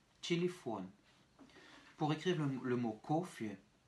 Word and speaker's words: телефон: Pour écrire téléphone, T, Y, L, Y, F, O, N, avec une accentuation sur la dernière syllabe, ce qui va rendre nos deux premiers Y réduits à des petits I.